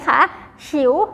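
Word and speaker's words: 球: บอล อ่า า ให้ เด็ก เล่น นะ คะ ฉิว แปล ว่า ลูก บอล ค่ะ นัก เรียน ออก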